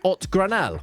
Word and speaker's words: Ot Granell: That team includes players like Ot Granell who lots of you helped me out in the comments as well with his name. It is apparently a Catalan name rather than a Spanish name.